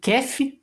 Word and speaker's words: kef: A Armênia também tem uma dança tradicional que é considerada como kef, se escreve K-E-F, kef, e que geralmente é dançada ao som da música folk tradicional armênia, esse duduk.